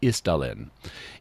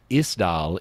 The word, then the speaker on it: Isdal: In fact, they even, if in some recordings we'll hear, you'll even hear them pronouncing it more like ice, even though it's just spelled I-S.